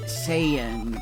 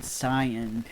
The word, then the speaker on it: Saiyan: But yeah, I feel like they pronounced it Saiyan because to them S-A-I was say.